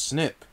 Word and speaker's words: SNP: group or migration pattern the term snp would pronounce snip means a single nucleotide